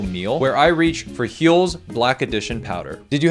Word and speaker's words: Huel: Heel is balanced with 40 g of protein and 27 different essential vitamins and minerals to help you reheal. Get it? Cuz uh cuz it rhymes with fuel.